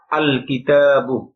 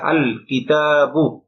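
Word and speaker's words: الكتابُ: গিয়েছে এক পেশ হয়েছে আল কিতাবু এখানে লক্ষণীয় বিষয় দুইটা একটা হল গ লামটা স্পষ্ট আলাদাভাবে উচ্চারিত হয়েছে আল লাম উচ্চারণ হয়েছে আল কিতাবু বন হয়নি অনুরভাবে প্রত্যেকটা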